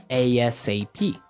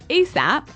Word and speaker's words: ASAP: So it's an acronym, and you can say it like ASAP or ASAP.